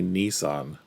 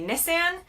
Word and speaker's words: Nissan: So, what did she She said Americans say Nissan. I didn't notice that before. Let's just see what she said again. UK they say Nissan. In the US we say Nissan.